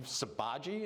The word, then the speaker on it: Sabaji: at my last name sabaji is how it's pronounced and again you'll notice